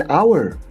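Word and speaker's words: hour: एन आवर पर अ हाउस, मतलब दोनों की स्पेलिंग एच से शुरू होती है।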